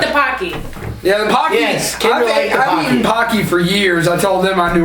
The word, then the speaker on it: Pocky: awkward it does sweet pocky rhymes with hockey it does alright which